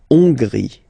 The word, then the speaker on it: Hongrie: So remember, H doesn't exist, so you don't pronounce it. So it starts with O-N, on, and then gris, final E, not pronounced. La Hongrie.